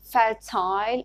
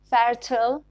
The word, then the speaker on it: fertile: ending in honest stress i l e in words like fertile and reptile are pronounced isle in british english like we say reptile and fertile and le in and some of them are pronounced le in american english so it is pronounced